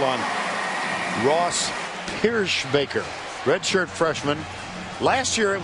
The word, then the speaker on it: Pierschbacher: did he say, fellas, it's pronounced Pierschbacher.